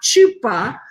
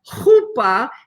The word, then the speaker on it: chuppah: called a chuppah and that is pronounced not chupa but Hoopa it's a guttural sound in Hebrew and we will get